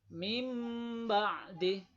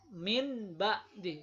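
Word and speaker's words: مِنْ بَعْدِ: Ba-nya ini seperti menjadi huruf mim. Jadi mim ba'di, bukan min ba'di.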